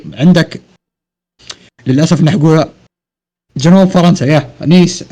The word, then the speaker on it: Nice: في عندك للاسف نحن جنوب فرنسا، نيس. عندك او نايس يقولونها الامريكان، هي النطق الصح نيس تاريخيا.